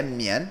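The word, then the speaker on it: 宀: Então, a pronúncia dele é mian.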